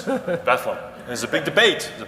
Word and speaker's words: Bethlehem: why is that well if you think about Bethlehem it's like bedlam same idea sort of